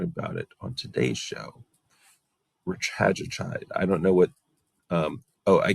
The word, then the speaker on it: retatrutide: So you might hear retatrutide, but I'm going to go ahead and call it retatrutide because I want to keep the emphasis on the same syllables as I do with the other medications.